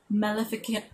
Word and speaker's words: Maleficaria: to like fight these magical evil beings called Maleficaria. That's how you pronounce it.